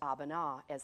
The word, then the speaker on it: Abana: they're like what what how do you say that and it's abana it's the name of